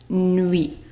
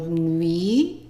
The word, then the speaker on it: nuit: The UI is pronounced as oui.